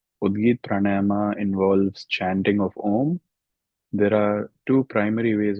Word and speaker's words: Om: You can chant Om, or you can divide it into the 3 syllables A, U, M.